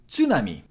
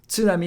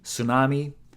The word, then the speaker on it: tsunami: Tsu is pronounced like tsu in tsunami. Tsunami is how we say it in Japanese. I know in English we say tsunami. Sometimes we even skip the T, tsunami.